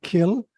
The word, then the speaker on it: Cill: And I said to you that in Gaelic, the word kill, which is spelled Cill in Gaelic, you know, can mean a church or a graveyard.